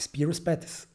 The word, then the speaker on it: Spiro Spathis: - Thank you - But how do you say it? Spiro Spathis - As we say it - You are great Yeah yeah okay Because I imagined Zpyros Zpats, Spyros Spathis…, get it?